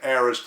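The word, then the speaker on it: aorist: a-o-r-i-s-t now what is this word that almost rhymes with Eris the heiress tense in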